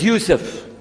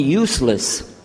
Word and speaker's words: Yusuf: go my name is Yousef he say Yousef Nyjah Huston very good I wish you teach my wife she keeps mispronouncing it she calls me useless HMDA left now how